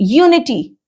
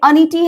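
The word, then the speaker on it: unity: Okay, यूनिटी, ठीक है, यूनिटी, again you, ना कि अनिटी है, यूनिटी अ यूनिटी होगा, ना कि एन होगा, क्योंकि ये यू है।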